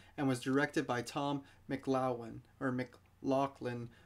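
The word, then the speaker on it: McLoughlin: tom mclaughlin or mclaughlin i hear different people pronounce it different ways but it's uh m c l o u g h l i n so mclaughlin i'm not sure mclaughlin depends how you pronounce it now like i was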